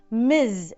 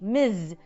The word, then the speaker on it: Ms.: Miz. And the pronunciation is also different. It is not s like the hissing of a snake. It is z like the buzzing of a bee. Miz.